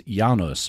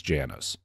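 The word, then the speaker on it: Janus: United States from Poland the Polish pronunciation of the family name is is yanos but the American pronunciation is Janis Adam was 27 years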